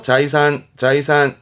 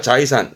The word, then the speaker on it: 財産: 자이산. 조심할 거는 재능제의 경우는 발음이 사이로 가고 나머지들은 자이료, 자이 발음이긴 합니다.